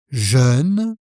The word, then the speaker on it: jeune: Alors, le premier se prononce jeune avec le son E comme dans œuf, neuf, et donc c'est le contraire de vieux. Il est jeune.